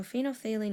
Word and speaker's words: phenolphthalein: That's how you pronounce it. It's a mouthful. I once had trouble saying that word. Anyway, so phenolphthalein is pink in an aqueous solution having a